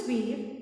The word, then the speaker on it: Veer: Param means ultimate, Veer, pronounced as Veer, means brave, and Chakra means wheel in Sanskrit.